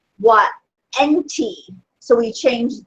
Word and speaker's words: enti: So we change the A at the end of enta to an I. It should be an I. I guess it was a capital I. It should be a small I. But it's pronounced enti.